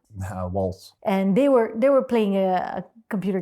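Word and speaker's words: Walz: Alexandria Ocasio-Cortez, AOC, had a Twitch chat with the vice president, how do you pronounce his name? Waltz.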